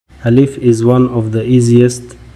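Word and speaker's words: ألف: By itself, alif is usually associated with the long A A sound, similar to the A in the English word father.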